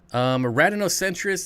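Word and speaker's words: Rhadinocentrus: Radinocentris. If you guys want to look them up, yes, there is a silent H in there, so I probably should have spelled that out.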